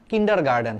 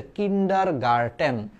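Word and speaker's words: kindergarten: আরে উচ্চারণ কি করতাম কিন্ডার গার্ডেন হ্যাঁ কিন্ডার গার্ডেন ড এটাও ড এটাও ডেটা এটা দাগায় দিয়ে আসবা কিন্তু এটার একচুয়াল উচ্চারণ হচ্ছে কিন্ডার গার্টেন কিন্ডার গার্টেন তাইলে কিন্ডার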